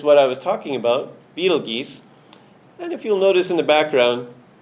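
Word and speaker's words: Betelgeuse: a star called what we know as beetle geese some people call it beetlejuice proper pronunciation is betelgesa now this star if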